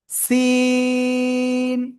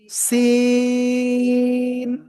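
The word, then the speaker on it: س: অক্ষর শিখবো খেয়াল করবেন সবাই এই যে অক্ষরটা সিন ওই একই জায়গায় লাগিয়ে চিকুন আওয়াজে এরকম একটু আওয়াজ করে আমরা চার আলিফটা নিয়ে উচ্চারণ করব সি ঠিক আছে সিন ওকে শব্দের শুরুতে এই সিন অক্ষর যদি আসে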